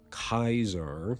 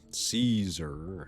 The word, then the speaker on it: Caesar: True to Kaisar. All of the Legion will pronounce it Kaisar. Everyone else will mostly pronounce it Caesar.